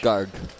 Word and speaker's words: Garg: So how would you pronounce his surname? Aish? Garg.